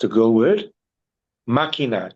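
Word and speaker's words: máquina: Makina. M a Q. U I N A and put a K above the Q and cross out the U. You don't pronounce a U.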